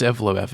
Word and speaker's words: Evloev: No, it's it's Evo. It's EV LEOV. Nothing fancy.